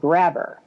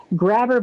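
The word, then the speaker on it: Grabbr: Next up, how about something called Grabber?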